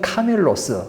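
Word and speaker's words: κάμιλος: 말이 있죠이 밧줄이라는 말이 카밀로스란 말이야 이게 그 조금 차이가 있어요 낙타는 카멜로스 밧줄은 카밀로스 그러니까 거의 발음이 사고 조금 차이잖아요 그러니까이 발음상 기록을 잘못해서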